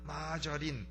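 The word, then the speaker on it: margarine: 고소하며 맛은 어찌 좋은이 마가린 영어로는 마 마저린 이렇게 또 발음을 해요 아 그런데 그 마가리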